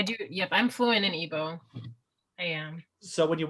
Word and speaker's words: Igbo: say that right yeah so it's it's it's evo i guess you could say that the g is kind of silent depending on how you say it well you know what